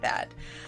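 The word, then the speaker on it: Daim: uh regular chocolate then pronounce like dime oh dime okay don't think you have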